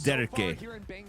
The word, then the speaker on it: Derke: Because they're like, yo, you're not saying it with the rolling R correctly. It's Derke.